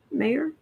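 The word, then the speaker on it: Meijer: james meyer peter meyer mayor m-e-i-j-e-r if it's dutch the j is silent so i'm going to say mayor sure sorry but we're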